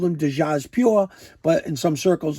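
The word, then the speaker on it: Djas Puhr: And in some circles, they call him Jasper. They do not pronounce the D. They just go the Jas and the Puhr and call him Jasper. So I don't know. I've always called him Dejaz Pure, but in some circles,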